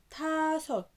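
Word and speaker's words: 다섯: رقم خمسة تا صوت تا صوت، برضو مقطعين تا كونسوننت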